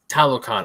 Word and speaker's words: Talokan: But thankfully, once we got to, is it pronounced Talokan? Talokan.